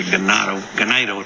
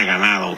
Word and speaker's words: Ganado: And then tomorrow we'll be delivering some cattle to a Ganado, Texas. But I always want to say ganado because it means cattle in Spanish, but it's pronounced in Texas ganado.